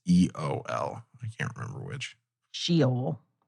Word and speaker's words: Sheol: Sheol. That's how it's pronounced.